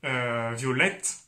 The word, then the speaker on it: violette: Видите, это violet. Потому что потом нет звука violet, но так как в женском, звук странный звук, но так как в женском единственном есть буква после звука и читается э, violet.